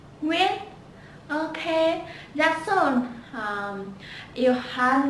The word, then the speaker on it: Nguyễn: And remember, the most very common last name in Vietnamese is Nguyễn. Nguyễn. Nguyễn. Nguyễn. Okay, that's all. You have now pronounced some common last name in Vietnamese, and